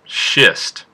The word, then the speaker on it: schist: to write do and our last rock is pronounced shist schist has a shade that's between the shade